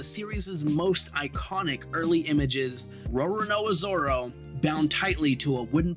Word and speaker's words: Roronoa Zoro: That's how you say it, Roronoa Zoro, you absolute larper, Logan Paul.